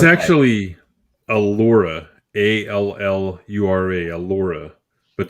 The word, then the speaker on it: Allura: it's actually allura a-l-l-u-r-a a laura but that's how they pronounced it on the cartoon so yeah you're you're